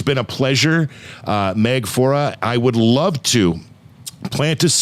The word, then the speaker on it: Faure: to tears here man she is miss meg fora i got that name pronunciation right it's been a whole hour and